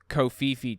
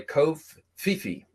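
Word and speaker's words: covfefe: early May 2022 this is about Trump's famous kofifi tweet where he said there's negative press coverage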